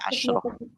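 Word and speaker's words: عشرة: Asyarah. Ya, asyarah gitu. Cuma nanti ketika bergabung dengan angka lain jadi belasan, itu nanti jadi asyroh.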